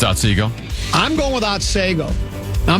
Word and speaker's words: Otsego: A lot of people are telling me it is Otsego. It's Otsego.